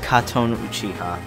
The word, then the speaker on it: Katon Uchiha: I know a lot of people don't know how to say my name. It's Katon Uchiha.